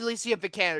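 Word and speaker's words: Alicia Vikander: I don't know how you pronounce her name Alicia the Candor do you Alicia vicanner you spelled it you pronounced it right all right cool well if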